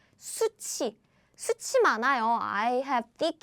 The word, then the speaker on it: 숱이: And now you know how to pronounce this word correctly, right? It's 숱이.